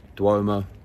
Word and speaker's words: Duomo: going to go to the cathedral which is pronounced dwomo in Italian I didn't know that Duomo and cathedral was the